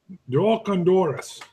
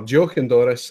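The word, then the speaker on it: Deoch an Dorais: Doch an Doris. Perfect. So Doch an Doris or Joch an Doris is Scotch Gaelic for a farewell drink or a parting drink, one for the road.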